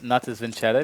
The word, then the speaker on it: Natus Vincere: No, but I think it's Natus Vincere because that would be how it would be said in Italian.